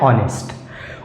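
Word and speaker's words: honest: इसलिए यहां पर भी क्या लगेगा ए एन ऑनेस्ट उसी तरह से यहां पर भी लगेगा आलूम आलूम इसमें भी एच साइलेंट है और एच एच साइलेंट होने की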